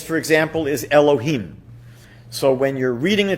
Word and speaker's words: Elohim: torah when you're praying you would be able to pronounce that name as it is written otherwise what we usually do is alter it slightly and we might say something like elokim one reason that god's